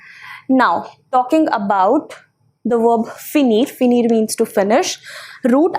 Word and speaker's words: finis: Same pronunciation for all the three. Fini. Nous finissons, vous finissez, il, elle finissent. Okay, so finissons, finissez and finis up to here, because ENT doesn't have really, a pronunciation of its own.